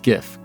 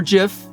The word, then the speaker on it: GIF: then it's more like the first GIF or GIF pronounce it as you will I have no dog in that fight ah but then in